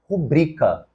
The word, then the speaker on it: rubrica: letra D não foi o correto é erudito a palavra é paroxítona assim como devemos falar filantropo a palavra também é paroxítona e finalmente rubrica outra paroxítona na letra a nós